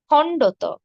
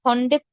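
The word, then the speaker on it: খণ্ড-ত: এটি হবে অন্তস্থ অ এরপর রয়েছে খন্ডত খন্ডত খন্ডের হবে না এটি হবে খন্ড ত খন্ডের নয় হ্যাঁ খন্ড ত খন্ডত দেখুন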